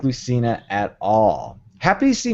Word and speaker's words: Lucina: I'm agreeing with both the pronunciation and the statement. Okay. That is my comment. I didn't like Lucina at all.